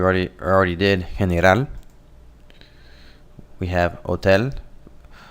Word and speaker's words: hotel: We have hotel. Note here that H's are silent in Spanish.